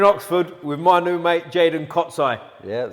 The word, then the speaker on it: Jaydon Kocaj: Butchered where we are. We're in Oxford with my new mate, Jaydon Kocaj.